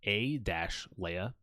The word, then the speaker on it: Alia: Dune there's a Princess Alia Alia I pronounced A- Lea in Star Wars is